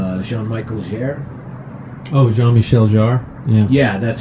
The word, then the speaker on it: Jean-Michel Jarre: How do you say it? Jean-Michel Jarre? Oh, Jean-Michel Jarre?